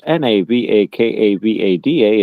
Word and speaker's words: Navakavada: That's NAVAKAVADA. It's spelled just like it sounds.